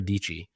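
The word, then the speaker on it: Dietschy: Her whole slogan was Sarah Dichi rhymes with peachy.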